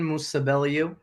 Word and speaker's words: Musabelliu: So can you please introduce yourself and pronounce your last name for us? All right. What's going on, guys? It's Musabelliu.